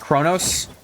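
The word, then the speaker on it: Qo'noS: It is pronounced Kronos. It's weird to write it without an R.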